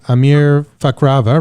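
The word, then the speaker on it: Amir Fakhravar: have a special guest here with me today Amir fakrava right am I pronouncing that right that's right right Amir a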